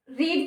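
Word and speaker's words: read: verb आएगी last इसमें रीड की थर्ड फॉर्म क्या होती है रेड बोलने में डिफरेंस होता है बाकी की इसकी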